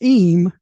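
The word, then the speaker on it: ים: In Hebrew, the Yud Mam, which is pronounced Eem, mainly indicates a masculine plural.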